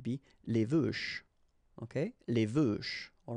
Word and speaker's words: veuches: Okay, les veuches. All right, don't pronounce the final S, and then the final E is not really present, so les veuches.